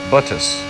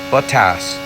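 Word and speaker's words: Bottas: just said i said buttus most people if you watch a lot of f1 racing you're used to hearing the announcer say buttas that's not actually how his name is pronounced and i've actually just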